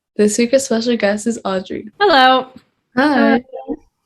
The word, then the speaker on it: Audriix: little about yourself sure my name is audrey the x is silent um a pop singer